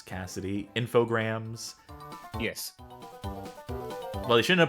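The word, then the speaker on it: Infogrames: so slime generat thing it's pronounced like it rhymes with telegrams Cassidy infograms yes well they shouldn't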